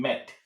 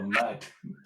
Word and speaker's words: Matt: But You mean, sorry, you mean Met. No, no, Matt. yeah, Met. that if you were German, that's how you would say it. German people, when they say my name, they say Met.